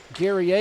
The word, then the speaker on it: Guerrier: pronounce his name, and there's a French version and an English version. We'll go with Guerrier today.